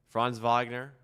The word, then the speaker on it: Franz Wagner: Pronunciation was well, right? That was good. Yeah, I mean, you don't need to roll the R, but okay, my bad.